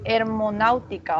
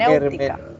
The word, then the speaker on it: hermenéutica: hermonáutica, o no me acuerdo, no me acuerdo cómo se pronuncia. Hermen. Hermenéutica. Ajá, muy bien.